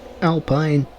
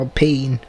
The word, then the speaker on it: Alpine: No damage luckily, but there was contact there between the McLaren and the Alpine. Or Alpine. The Williams is now up the chuff. It's spelled Alpine, but it's an Alpine.